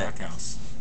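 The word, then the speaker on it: Backhaus: Specifically, I don't know how to pronounce it. backhouse.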